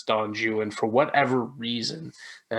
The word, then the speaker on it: Don Juan: people think it's pronounced on one which you would think but actually the rhyme scheme of the poem itself suggests that it's don joo and for whatever reason